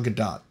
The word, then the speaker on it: Gadot: There's no T there. Gal Gadot. Pronunciation. Gal Gadot. Her name, yes. But Godot is Godot. Are you hitting anything?